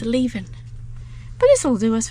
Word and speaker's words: Leven: Well, I've been pronouncing it wrong. It's not Leven, it's Leven.